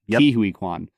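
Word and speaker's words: Ke Quan: acting is incredible uh is it k k Kuan or he pronounces it KIU Kuan Ki Kuan so like Ki Kuan is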